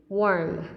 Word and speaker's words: warm: Ok, từ này mình đọc là worm. Nó khác với cái từ chết rồi, lại giải thích rồi. Ok, không sao, nói luôn. Cái từ ấm ấy, ấm mình đọc là gì nhỉ? Warm. Ok, warm. It's warm. That's the difference.